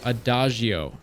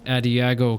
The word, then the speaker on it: Adagio: roll the likes of adagio yes that's right not at iago castle for the love of god pronounce it right i know i've made